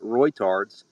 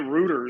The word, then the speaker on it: Reuters: I pronounce it Reuters. And then that, I hear people calling it rooters, as in like, you know, Reuters plumbing. is how I pronounce it.